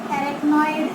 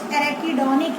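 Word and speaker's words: arachidonic: They are derivative of derived from एरेक्नोइड acids.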